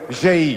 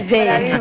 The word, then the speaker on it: Zhej: Io spero di pronunciarlo bene, Zhej. Zhej, bravo.